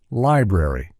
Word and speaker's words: library: In this case, ARY at the end of words is fully pronounced in American English. For example, we articulate the entire word: library, secretary, military.